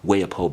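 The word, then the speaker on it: Waipio: This beach is called Waipo Beach. It's spelled W-A-I-P-I-O Beach.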